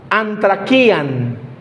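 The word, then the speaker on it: ἀνθρακιά: Es una palabra muy específica que se pronuncia antraquian.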